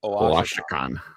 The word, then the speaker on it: Oaxacan: you got me to say it slower, and there's the pronunciation. Oaxacan.